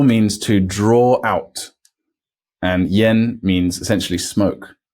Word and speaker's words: yan: sound so by itself this is written y a n Yen not Yan so Yin with a